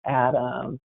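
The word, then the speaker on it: AHDAM: I'm also President of the Association for Healthcare Denial and Appeal Management, which we pronounce as ADAM.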